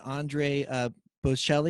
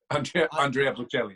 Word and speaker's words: Andrea Bocelli: Jill Adams wants to know when you're going to do an Andre Bocelli. Did I say his name right? Andrea Bocelli, yeah.